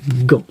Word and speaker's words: gant: Voilà, donc le G se prononce G, vu qu'après il y a un A, mais AN fait le son en, comme un banc, un fantôme, donc gant.